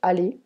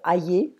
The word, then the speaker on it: aller: Aller, to go, not aller, aller.